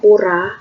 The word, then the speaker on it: pura: Kalau orang Bali ini misalnya pura tulisannya, tapi kalau orang Bali bacanya puro ya.